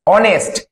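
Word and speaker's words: honest: honour H ও এন ও ইউ R honour অনেস্ট এইচ ও এন ই এস টি অনেস্ট একইভাবে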